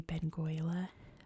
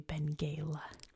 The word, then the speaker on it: Benguela: So I see this and I see Benguela, but it's actually Benguela. When someone corrected me, I was like, oh, of course it is, obviously, because they speak Portuguese in Angolan. So my bad. This is Benguela.